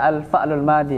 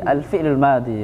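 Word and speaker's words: الفعل الماضي: Kita bukan tidak baca al-fa'lul madi, al-fi'lul madi bacanya.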